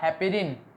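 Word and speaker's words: heparin: चलो मैं बता देता हूँ क्या नाम इसका, हेपेरिन। अब की बार मेरी प्रोनाउंसिएशन बिल्कुल ठीक है, अब शक मत करना।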